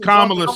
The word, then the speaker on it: Kamala: Kamala. It's Kamala, sir.